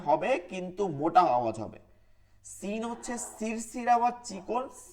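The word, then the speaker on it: سين: Scene হচ্ছে সিরসির আওয়াজ হবে, সিরসির, সি সি, এবং চিকন আওয়াজ হবে। সদ হচ্ছে সিরসির আওয়াজ হবে কিন্তু মোটা আওয়াজ হবে। সিন হচ্ছে সিরসির আওয়াজ চিকন,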